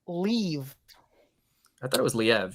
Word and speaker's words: Liev: I think it's pronounced looking. Leave.